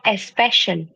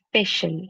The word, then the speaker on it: special: It is not especial, special, sir. A will Special. not come at all.